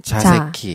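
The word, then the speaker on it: 座席: 좌석은 자새끼. 네네. 이제 한국말이랑 굉장히 발음이 이제 연관성이 있어요.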